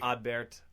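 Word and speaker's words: Adbert: getting it wrong it's because we like checked with him and it's like odd Bert alza' y AB bear so they pronounce the T I think it's not a their rapport situation right I think but I think it's not add Burt I think it's like odd odd Bert odd Bert Al's ally yeah that's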